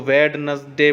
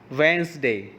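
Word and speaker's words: Wednesday: हम सर्कल कर देंगे आप लोग इसको वेडनेसडे बोलते हो वो जो कि गलत है प्रोनंसिएशन की सही प्रोनंसिएशन है वेनसडे ओके डी को साइलेंट करके बोलना है नाउ कम टू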